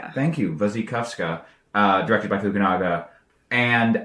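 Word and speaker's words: Wasikowska: The 1996 Anna Pacwin Charlotte Gainsboro Zepharelli film and the 2011 Mia Wasakowski I believe it is pronounced Vuzikovska. Thank you. Vuzy Kovska.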